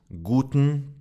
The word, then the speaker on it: guten: Guten is actually pronounced guten tag. The e disappears.